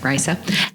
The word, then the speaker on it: Risa: on uh Risa that's how you say it Risa and uh oh Richard who are the uh